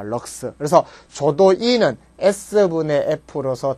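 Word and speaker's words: lux: LX라고 적고 읽기는 뭐라고 읽는다? 럭스라고 읽습니다. 럭스.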